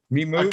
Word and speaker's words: MiMove: MiMoves. Okay. It's called MiMove. We spell it M-I, so you're not the first person to call it me.